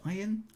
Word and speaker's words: Ayn: Ayn Rand, is that how you pronounce it? Ayn? Okay, interesting. I had to call it Anne.